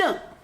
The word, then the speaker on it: 正: 对，“正”是个多音字 Oh, by the way, it’s a polyphonic character with two pronunciations. “zhēng”这个音只有一个词 The first pronunciation is zhēng, and it’s only used in the word 正月. 正月，另一个发音是“zhèng” The other pronunciation is zhèng.